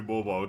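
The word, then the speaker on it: Mawile: I went to YouTube and looked up someone pronouncing it. Oh my god. I'm pretty sure it's supposed to be mobile.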